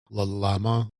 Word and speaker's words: Llama: Don't you have to pronounce the L.L.A.M.A? L.L.A.M.A? No, it's llama. Don't llama.